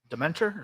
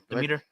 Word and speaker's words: Demeter: I want to see the last voyage of the Demeter. Dementor? Is that what Dementor? I forget how you pronounce it. Demeter.